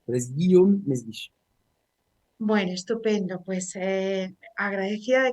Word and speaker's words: Mesguich: Guillaume, pero efectivamente son con fónicas muy francesas, entonces solo los franceses lo pueden pronunciar. Pero es Guillaume Mesguich.